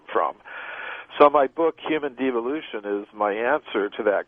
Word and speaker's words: devolution: Is it de-evolution or devolution? I say devolution, but, you know, I'll accept de-evolution if people want to pronounce it like that.